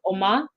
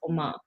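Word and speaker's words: Umma: i'm pronouncing this correctly oma like ma like how you say mom in korean but it's it's spelled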